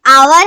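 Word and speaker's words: hour: इज एन आवर late जो य आवर है ना ए ये एज साइलेंट है आवर यह एक वावल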